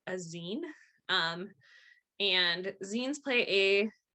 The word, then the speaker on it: zine: more about scenes uh it is pronounced zine like short for magazine um it's a self-published